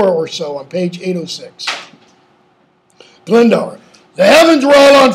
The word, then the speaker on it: Glendower: How does he address Owen Glendower? Or I'll use the pronunciation everybody uses, Glendower.